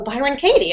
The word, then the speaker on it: Byron Katie: Brian Kate Byron Kate Byron K by oh Byron Katie I totally messed up so um I found